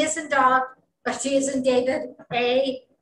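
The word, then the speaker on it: Dagim: of the sun okay the hebrew name for pisces is dog d-a-g-i-m this one i know i'm pronouncing right because dog means fish in hebrew and i am is plural it's like yes or es for us in english so doggy that means two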